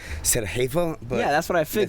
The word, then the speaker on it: Sarajevo: that how you pronounce it? Sarajevo.